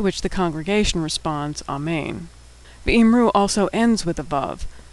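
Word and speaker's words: ויאמרו: V'imru also ends with a vav, this one in the form that's pronounced u, v'imru.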